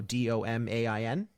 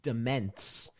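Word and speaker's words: demesne: um domain you know d-o-m-a-i-n is uh d-e-m-e-s-n-e so you would think it's pronounced dimense but it's actually pronounced domain ah yeah that's interesting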